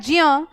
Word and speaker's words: ज्ञ: हम लेखन से भिन्न नहीं करते क्या उच्चारण हम लिखते तो ज और य है लेकिन उच्चारण हम क्या कर रहे हैं इसको अगर भाई ये आपका ज्ञ होता तो ये ग और य से मिलकर बनता कि नहीं बनता सीधी सी